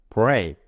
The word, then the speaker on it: break: 그리고 알파벳 A는 여기에서는 보통 A가 아어 이렇게 발음되는데요. 여기에서는 E로 발음되네요. 이렇게 예외적인 발음들은 따로 외워두셔야 돼요. 그래서 여기에서는 알파벳 A가 예외로 E로 발음되고 있고요.